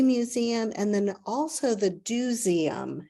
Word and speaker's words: DoSeum: and then also the Dooseum, and that's spelled Doseum, as in let's go do something, and that's a hands-on kids museum.